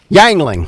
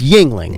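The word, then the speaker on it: Yuengling: that's ridiculous but he doesn't know how to pronounce Yingling beer though who McCormick McCormick yeah y yangling yangling like dude it's Yingling yeah yeah I mean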